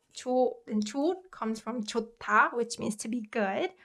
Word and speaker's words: 좋다: And when 히읗 받침 is combined with 디귿 consonant, it produces 트 sound. So 좋다, this verb is pronounced 좋다.